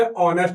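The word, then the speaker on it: honest: आवर, इसे आवर लिखेंगे, इसे ऑनेस्ट लिखेंगे ओ से, यानी कि एच के इसमें कोई मामला नहीं है, बिल्कुल साइलेंट है, तो यहां इसका यूज नहीं करेंगे।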